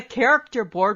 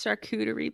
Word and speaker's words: charcuterie: It's like a character board without the character. It's not a character board. It's a character board without the character. It's charcuterie, please. Say it right. Can you please just say that right?